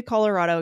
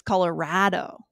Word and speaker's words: Colorado: And it's Colorado. Colorado.